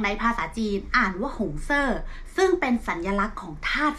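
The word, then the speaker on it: 红色: ว่า สี แดง ใน ภาษา จีน อ่าน ว่า หงส์ เซอร์ ซึ่ง เป็น สัญลักษณ์ ของ ธาตุ ไฟ ค่ะ ก็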